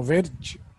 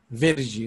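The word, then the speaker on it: Virchow: كيفان فيرج دوت اه اسمه فيرج مش عارف انتوا ليه من النطق الانجليزي فيرجي اسمه كيفان فيرجي في كيفان بيبتير فرانسوز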